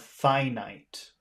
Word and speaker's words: finite: which is the opposite so they're pronounced differently you have infinite and then you have finite finite means there is